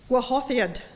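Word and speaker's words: Gwahoddiad: In English, it's "I Hear Thy Welcome Voice," but my Welsh friend has told me it's pronounced Gwahothad, Gwahothiad, which I gather in Welsh means welcome.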